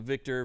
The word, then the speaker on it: VKTR: The way that they spell it is VKTR, so the Victor VK1.